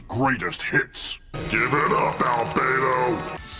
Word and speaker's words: Albedo: Also, for some reason, they decided to change the pronunciation of Albo's name. In UF, they said Albo, but in Omniverse, they say Albo. I don't know how you have like some sort of weird inconsistency with the pronunciation of your own character, but if you want to know what I prefer, I prefer saying Albo as opposed to Albo.